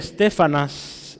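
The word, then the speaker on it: Estéfanas: familia de este hombre stefan as lleva un acento en la segunda de stefan as es muy interesante y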